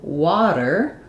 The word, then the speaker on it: water: And then in water, I'm going to have the flap T again.